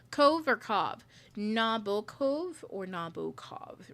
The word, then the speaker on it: Nabokov: Nabokov, is that how you say his name? I've never said his name. A day in my life. Nabokov, yeah, Vladimir.